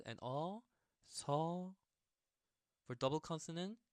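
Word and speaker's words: 소: Okay, so the main difference between so and shaw, there's that Y pronunciation, Y sound.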